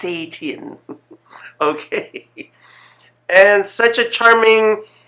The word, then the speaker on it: Setian: I hope that I pronounced the name wrong, and it's most especially the last name Setian, because I don't want to call you Satan. It's Setian.